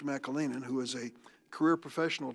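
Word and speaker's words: McAleenan: ought to look at when I had mr. McLennan in my Kalinin I mispronounced his name mr. Mackall Aenon who is a career professional DHS I asked him blank check time mr.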